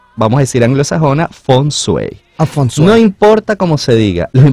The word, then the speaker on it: Feng Shui: ¿Es Feng Shui? Sí, se le puede decir. La pronunciación realmente es Feng Shui. Feng Shui. En mandarín.